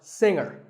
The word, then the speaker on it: singer: is silent now we say finger we say the G younger again with the G but singer no G and what would you